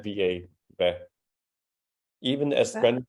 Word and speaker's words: hvad: It's just that all of these HV questions, HV, the H is silent, so HVAD just becomes something like a flat VA.